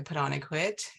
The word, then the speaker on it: Padonikwit: my name is padonikwit and my granddaughter says um our name as put on a coat that's how she pronounces it so it's easier to remember so put on put